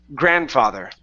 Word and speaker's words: grandfather: go to grandfather now in this word this D in the middle does not need to be pronounced okay so it's grandfather grandfather okay so his grandfather